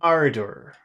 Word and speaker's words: ardor: Where's the strong syllable in ardor? Door, ardor, No, it's ardor. the other way around. It's ardor. Ardor. Yes, first Ardor.